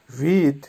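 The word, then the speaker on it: вид: মীর, মীরের অর্থ হবে পৃথিবী বা শান্তি, উচ্চারণ হবে মীর। আবারও বলছি মীর। ভিদ, ভিদের অর্থ হবে দৃশ্য বা ভিউ বা লোক, উচ্চারণ হবে ভিদ।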